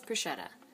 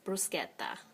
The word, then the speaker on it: bruschetta: Just like bruschetta, okay? Like people, I know everyone says bruschetta. Okay, but I'm just telling you, in Italy, it's bruschetta. I always had a pretty good accent because I never took Spanish or anything.